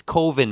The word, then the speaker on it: Coven: We got it's Coven, Mom. It's Coven. It's Coven. Yeah. Or which is Coven. Or which is Coven sounds stupid. It rhymes with oven.